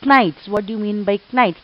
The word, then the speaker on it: knights: Knights. What do you mean by knights? This K is silent over here.